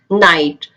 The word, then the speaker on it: night: Bright, night, thought, etc.